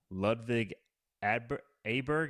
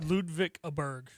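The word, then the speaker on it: Ludvig Åberg: followed by John Rom Levig Adberg. Am I pronouncing that right? Ludvik Aberg. Aber Ludvik Aber. If you didn't just ask me I would know. I think it's Aberg. Yeah.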